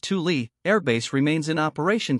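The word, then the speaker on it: Thule: abandoned only the base originally called thuli pronounced Tuli Air Base remains in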